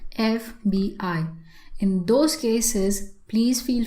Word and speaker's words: FBI: So you take the sound you pronounce each word each letter separately. MBA and there's always a dot in between. So you can use an an FBI agent. You will never hear anybody saying Fibby agent.